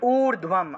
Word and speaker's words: ঊর্ধ্বম: ঊর্ধ্বম, এখানে দেখবেন ধয়ের সাথে বফলা আছে, তাহলে ঊর্ধ্বম, আর দীর্ঘও আছে, দীর্ঘও থাকায় উচ্চারণটা দীর্ঘ রূপে হবে, দীর্ঘস্বর। তাহলে ঊর্ধ্বম ব্রহ্মাণি, ব্রহ্মাণি মূর্ধন্য,